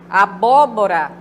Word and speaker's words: abóbora: né Fala abóbora abóbora mas não é abóbora é abóbora precisa pronunciar os dois as duas sílabas né bobo prostrar Geralmente